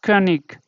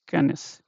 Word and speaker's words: König: Okay, and here this changes to, it is not König. Okay, somewhere people also say König, but this should be pronounced as Könis. Yeah, or another one you can take as, okay, let's remove this.